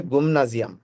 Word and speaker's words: Gymnasium: উচ্চারণটা হলো গিমনাজিয়াম। Gymnasium. গিমনাজিয়াম। Physik. Exact Deutsch উচ্চারণ হবে গুমনাজিয়াম। Gymnasium.